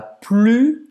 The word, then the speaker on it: plus: U, c'est la plus belle langue. Você não vai pronunciar esse S no final. C'est la plus belle langue.